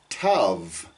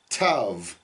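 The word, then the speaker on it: ת: Okay, and the letter Tet and the letter Tav in English, we would pronounce that with a very hard T, where you put your tongue at the back of your teeth, Tet, Tav. But in Hebrew, it's a softer on both of those.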